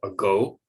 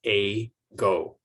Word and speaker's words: ago: very very carefully but native speakers of english put the stress on the second syllable and so the first syllable is reduced to the schwa sound a go same with